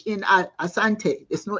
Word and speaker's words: Asante: uh he says uh it's not asante it's asante not ashante the English could not pronounce the word properly so they put the